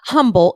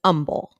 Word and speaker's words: Humble: real name there's an Umble Texas and it's not humble it's Umble so even though it has an H the H is silent it's not like humble it's Umble Umble Texas hook it